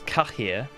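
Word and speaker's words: Cahir: what and then then i started saying it in the nilfgaardian pronunciation which is kahir and um i've sort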